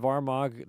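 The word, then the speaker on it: Armagh: Did Did I pronounce the city of Armag there correct? You got the city of Armag correct. Yes, we uh don't pronounce our G's sometimes.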